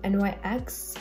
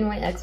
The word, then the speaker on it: NYX: This is from NYX and NYX. I keep on pronouncing it NYX when it's NYX.